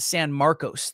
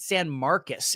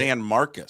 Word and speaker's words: San Marcos: I pronounced it San Marcos the first time I saw it. San Marcos State. San Marcus is how they pronounce it. San Marcus.